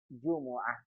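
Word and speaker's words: جمعة: jumaah jumlah bangsa kita Jumat hari Jumat dalam bahasa Arab dibaca dengan Jumuah woah gitu ya begini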